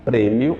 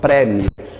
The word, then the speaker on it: prêmio: é fechada por exemplo na palavra prêmio eu digo prêmio aqui no Brasil e não prémio premmio quem diz é Portugal Portugal diz prémio Aqui no Brasil é